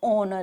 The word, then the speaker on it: honor: So remember the drop the H to stay it as honor.